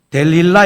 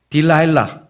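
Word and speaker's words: דלילה: 뭐죠 한국말로는 들릴라 이게 히브리어 원어는 데릴라 있니다 데릴라 영어로는 좀 전에들은 노래 제목이 여인의 이름입니다 뭡니까 딜라일라 그러니까 히브리어 데릴라 데릴라 한국말 들릴라가 발음이 훨씬 가깝죠 제가 보니까 미국 사람들이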